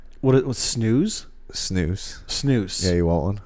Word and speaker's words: snus: Is it snooze? I think that's how you would pronounce it.